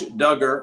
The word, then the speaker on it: Duggar: word we'll give old josh duggar rhymes with hugger the presumption of innocence